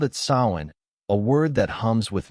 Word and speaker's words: Samhain: They called it sin, a word that hums with mystery, pronounced so in like a whisper from the earth.